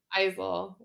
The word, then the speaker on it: Eisel: this a lot I you say Isel like with a z it's an Isel right okay because I